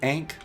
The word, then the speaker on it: ankh: Now some people pronounce it Ankh, some people pronounce it Ankh.